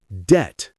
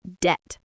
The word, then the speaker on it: debt: But the B is silent, so we just say debt. Just debt.